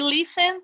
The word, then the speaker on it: listened: And we don't pronounce the second E. So here is something like that. We're going to say like this, like called.